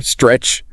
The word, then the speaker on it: stretch: Then immediately tap the T and roll into the R. Sker stretch. And it finishes with the CH sound. CH, like a sharp burst of air. Stretch.